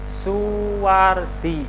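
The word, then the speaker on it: Soewardi: Mas Hai Suwardi Suryaningrat Jadi kalau ada tulisan owe itu ejaan lama dibacanya su Suwardi dibaca Suwardi suwe-suwe aryaningrat dibaca Suryaningrat dilahirkan di Yogyakarta pada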